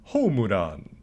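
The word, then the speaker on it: ホームラン: reference to their work first home run is a loanword pronounced homuran loan words are also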